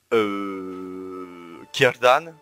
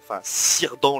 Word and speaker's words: Círdan: Alors, moi, en personnage que j'aimerais énormément voir, ce serait Gil-galad, Celebrimbor, Círdan, ou Círdan le charpentier, enfin c'est Círdan qu'on prononce.